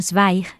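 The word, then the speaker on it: Zweig: Stefan Sweig, que se escribe, lo voy a deleterar porque es muy sencillo. Z W E I G. Z W E y G. E, bueno, Stefan Schweig es un grandísimo escritor, narrador y escribe muchas biografías.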